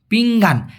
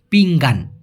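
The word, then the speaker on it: pinggan: পিঙ্গান, পিঙ্গান। এখন এই জায়গায় যেহেতু জি আছে, এখানে ন না হয়ে হবে হচ্ছে পিং, পিঙ্গান।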